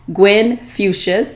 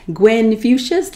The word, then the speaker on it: Gwen Fuchsius: At Gwen Fuchsius, and that is spelled G-W-E-N-F as in flower, U-C as in Christmas, I-U-S, Gwen Fuchsius, like Confucius, on Instagram, Facebook, and Twitter.